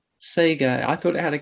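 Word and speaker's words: sekha: case so um and that's pronounced sega but probably and that probably might if it was a g sound it would be saying say k sound yeah okay okay thank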